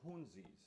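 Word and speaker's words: Hounsies: The last piece I'm going to play by Franz Cassou is his piece called Dance of the Hunzis, and that's spelled H-O-U-N-S-I-E-S, Hunzis, Dance of the Hunzis.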